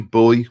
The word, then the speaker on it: Bowie: have I mean David Bowie Bowie Bowie whichever way you want to pronounce it when he was alive